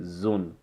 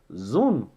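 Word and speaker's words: zoon: Cela pourra se prononcer zone. Z-2-O-N. Comment faut-il prononcer cela? Zone, zone.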